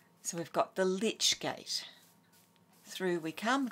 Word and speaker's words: lich: And if you see I-C at the end of a word that's of Anglo-Saxon origin, it was originally pronounced I-C-H, so itch. So we've got the lich gate.